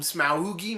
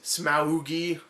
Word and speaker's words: Smaug: smog or smog I like to call him smoi myself I think that's the right way to pronounce it I'm pretty sure that's right so